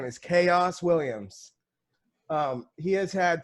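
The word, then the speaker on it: Khaos: he i i kind of knew he was spelled with the k yeah k h a o s chaos and his name is like the ox what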